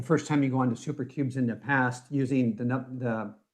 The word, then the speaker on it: SouperCubes: It's SouperCubes, so spelled like soup, SOUPER, cubes.